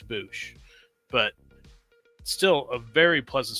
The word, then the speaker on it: Boushh: I'm pretty sure it's pronounced Bouch, not Bow. I like Bosch better, but I think it's Bouch, but still a very pleasant surprise.